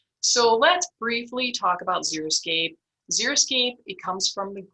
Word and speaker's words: Xeriscape: So let's briefly talk about Xeriscape. Xeriscape, it comes from the Greek word xeric, which means dry. Some people mispronounce it as Xeroscape, and to me that means a no landscape, whereas a Xeriscape can be quite colorful and diverse and attractive.